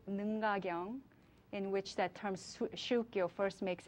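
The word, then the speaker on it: 宗教: shukyo, the same Chinese characters used for 종교 in Korean is pronounced as shukyo in Japan.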